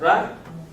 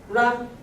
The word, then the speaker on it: rá: With up accent. Ra. Ra is to disappear.